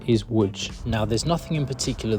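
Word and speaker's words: Łódź: you're probably looking at the spelling thinking that's pronounced Lots not wood but the correct pronunciation is wood now there's nothing in particular that's really wrong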